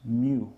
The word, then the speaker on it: mu: That symbol there is actually pronounced mu, right?